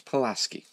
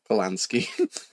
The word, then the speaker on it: Pulaski: So it's Pulaski. Pulaski. What did I say? Polanski.